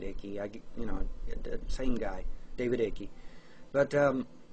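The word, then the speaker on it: Icke: I guess in Britain you would pronounce it Ike, but here in America a lot of us pronounce it Icky.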